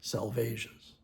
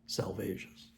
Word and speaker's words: Salvages: So it's the dry salvas. That's how it should be pronounced. The dry the dry salvas.